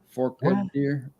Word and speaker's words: Forked Deer: for deer yeah that's how they do it Fork deer yeah that's I know what she's talking about